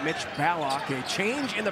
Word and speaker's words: Ballock: That's right, Mitch Ballock. A change in the pronunciation for the Creighton star guard.